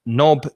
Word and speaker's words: knob: ladies wear knickers and knob is like a handle for a door you have a door knob again silent k which you turn so